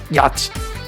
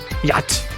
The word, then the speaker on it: yacht: me my second yeah yacht yacht right that's how you say it in english yet doesn't make any sense because there's a ch in there but whatever i know betting on